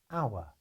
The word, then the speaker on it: hour: house hat 100 etc but the letter h is sometimes silent as in words such as honest hour and a few other